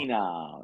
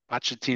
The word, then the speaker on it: Pochettino: How do you pronounce Mauricio it? Pochettino? Pochettino. Yeah, Poch. Pochettino.